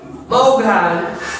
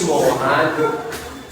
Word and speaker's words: Maughan: mas may lugar maughan dapat maughan pero ang pronunciation is mahan so ang maughan tawag